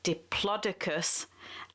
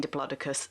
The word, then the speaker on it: diplodocus: bbc pronunciation pronunciation i can't pronounce the word pronunciation unit has decided that the correct way to say it is diplodocus and as this is a science broadcast i'm going to be saying diplodocus the correct way so plodicus was a sauropod